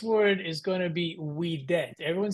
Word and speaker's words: vet: weet weet good so that V is gonna pronounce like a w sound so if you're tempted to say vet that's fine but just remember for our purposes to kind of keep it everyone on the same page we're just going to use a classical reconstructed pronunciation next uh phrase here